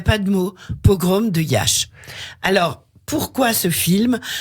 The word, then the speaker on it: Iași: Les Roumains disent Iași. Oui. En France, on dit Jassy ou Yassi.